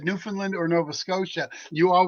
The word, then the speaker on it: Newfoundland: It's New Foundland. Ah, it is. It's New Finland. Newland. You can pronounce it New Foundland or Newfoundland is what it is.